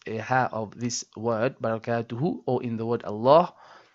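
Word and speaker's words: بركاته: Now, a lot of people again, they omit this last ha.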